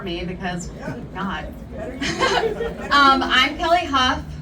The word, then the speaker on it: Hough: I'm Kelly Hough. It's spelled H-O-U-G-H, like tough or rough with an H, because it's super tough to be a Democrat in South Carolina.